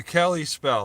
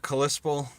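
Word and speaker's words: Kalispell: cali spell kalisp okay cali spell that's how it's pronounced not callispo eric farmer i'm telling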